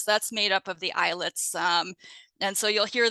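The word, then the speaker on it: islets: made up of the eyelets um and so you'll hear the term eyelets or eyelet cells and um note that it's it's spelled Isle TS but it is pronounced like eyelet like eyelid eyelets and each eyelid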